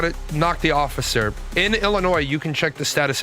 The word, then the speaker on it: Illinois: It's Illinois. The S is silent.